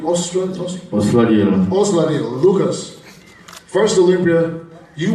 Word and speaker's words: Osladil: How do you pronounce the last name? Osladil.